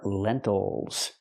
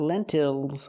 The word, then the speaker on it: lentils: pencil and these are lentils not lentils but lentils again distress is on the first syllable so we do not say ill we say oh that syllable is not stressed these are green lentils